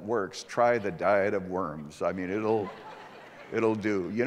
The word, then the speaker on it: Worms: Now, it's spelled W-O-R-M-S. We say Worms. Actually, in German, the W is pronounced like a V, so it's the Diet of Worms.